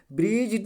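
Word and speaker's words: bridge: तो डी क्या है, साइलेंट है, क्या है, साइलेंट है, जिसको क्या पढ़ा जाएगा, ब्रिज नहीं पढ़ा जाएगा, ब्रिज पढ़ा जाएगा।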